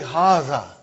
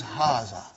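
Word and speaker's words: هذا: See, it is pronounced like Haza. But this alif is not written. It is explained in the key also. So it is Haza.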